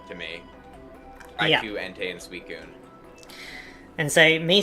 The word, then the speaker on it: Suicune: I will say the craziest pronunciation I've heard that I can think of right now. Suicune. Yeah. It's Suicune.